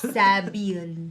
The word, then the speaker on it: Sabil: That's sab with eel. Sabil.